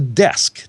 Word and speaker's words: DESQ: Again, that's spelled RAQ. It's kind of IKEA-like, right? It's called the Desk, DESQ.